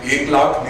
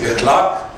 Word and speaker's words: Ekhlaque: for the first time, my name is Eklak, which mispronounced like Eklak means 1/10 of a million, and pronounced correctly, which is Eklak, it means good behavior.